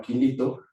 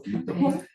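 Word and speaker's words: Kilito: ciclos que se llama Quilito, se escribe como kilo, como como un kilo chiquito. Quilito.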